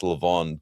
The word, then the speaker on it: levain: So yeah, well, it's pronounced Levon, but yeah, so that's kind of funny.